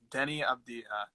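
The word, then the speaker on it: Deni Avdija: Okay, Denny Abdiha. Thank you for fixing the pronunciation.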